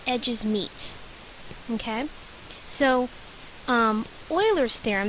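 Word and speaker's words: Euler: meet okay so um Oilers theorem this this is pronounced Oilers states that the faces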